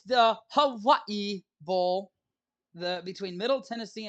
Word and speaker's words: Hawaii: to ask oh let me ask a true Hawaiian as to how that said that is actually